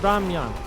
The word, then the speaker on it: 라면: It's ramyun. It's just ramen. Said in the Korean pronunciation.